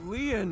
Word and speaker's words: Lin: it so many times my name lean is spelled l i n in French Leon means